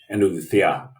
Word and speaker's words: Andalucía: releasing this book on Andalusia, or how do you say it in Spanish? Andalucía. Andalucía. Andalucía.